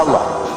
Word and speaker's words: Allah: Saya lihat lagi ada yang nulis apa aja tulis ya, pakai Wono Coroko lah, pakai apa Cina, tetap bacanya Allah.